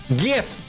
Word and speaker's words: GIF: than GIF you're wrong the creator of the file format said it's a hard G I mean obviously it